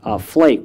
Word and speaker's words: flaik: for students and instructors called flaik, pronounced like snowflake.